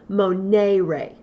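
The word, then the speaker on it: monēre: Notice that it has an ere, and the e has a little line above it. To remind us of that, I like to really pronounce it strongly. Monere, monere.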